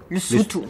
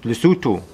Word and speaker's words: Lesotho: Habe ich das richtig ausgesprochen? Wahrscheinlich nicht. Lesotho. Lesotho, okay.